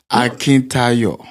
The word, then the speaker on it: Akintayo: Akintayo.